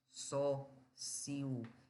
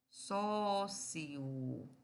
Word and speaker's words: sócio: Mas, quando se vai pronunciar, você pode pronunciar assim, ó. Sócio, fazendo um hiato.